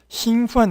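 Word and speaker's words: 兴奋: 兴奋 은 우선 발음이 일성이고 兴奋.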